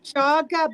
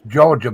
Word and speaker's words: Georgia: Jaga boys, boys with a Z. That's Georgia boys. Georgia boys. It is? It's pronounced Georgia?